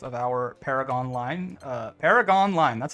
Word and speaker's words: Paragonline: the second half of our Paragon line uh Paragon line that's how you say it our Paragon Line